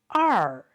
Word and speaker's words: 二: And also notice for this 2 in numbers, we always pronounce it 二 when you count the numbers, and it's pronounced 二. And it's not 两.